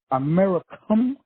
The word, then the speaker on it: americium: 369, which is the the iodine, and the Americium.